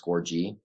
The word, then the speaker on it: Scorgie: Or I'm personally on Twitter, just Score, like a goal with a big G. So that's how my name's pronounced, Scorgie, not Scorgie or Scorgie, as people say, Scorgie.